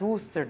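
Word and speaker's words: Worcestershire: insanı bulduğu bir sos fakat hıstır diye okunuyor Mısır Şair sosu bileniniz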